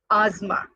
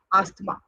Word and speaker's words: asthma: The word should be pronounced as asthma and not asthma.